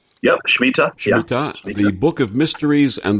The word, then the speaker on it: Shemitah: the harbinger the mystery of the is it pronounced shemitah yeah Smita the book of mysteries and the paradigm what